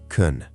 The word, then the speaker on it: can: In natural speech, can is often weak and quick. It may sound like kun.